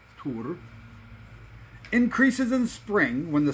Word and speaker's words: Tyr: lands of our ancestors tear pronounced tur increases in spring when